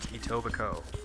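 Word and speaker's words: Etobicoke: And yes, I know how to pronounce it. It tobacco. I used to live in Atobico for a bit myself.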